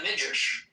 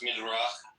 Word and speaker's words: Midrash: It's in the Midrash. It's in the Midrash, okay. But like, what's up with like black people being cursed? It's actually pronounced Midrach.